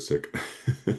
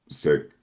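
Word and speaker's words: Sikh: I'm like wait is it sik? I know I know my pronunciation was corrected and I think I've forgotten it already. Yeah most people say sik but it is um it looks like six is s i k h.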